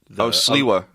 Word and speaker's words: Sliwa: It was Sliwa with a W. Because in Polish... Sliwa. Yeah, but you pronounce it with a V.